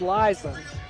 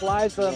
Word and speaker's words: Liza: Eliza whatever it is I believe it's Liza felt like Liza Minnelli so I would assume